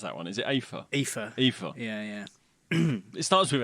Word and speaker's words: Aoife: Is it Aoife? Aoife. Yeah. It starts with an A. Yeah. Come on. No, it's Aoife. Aoife. Oh, God. Yeah. That's not how they spell it in Final Fantasy.